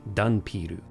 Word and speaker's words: ダンピール: In Japanese, dhampir is pronounced dunpiru.